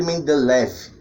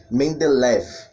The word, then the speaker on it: Mendeleev: da antiga união soviética a pronúncia é meio que particular de cada região então temos que falam dimitri mendeleev outros falam demitri mendelev direto outros são band life oeste no final tanto faz mas em linhas gerais